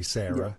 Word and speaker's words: Sara: And it's S-A-R-A, which we would say Sarah.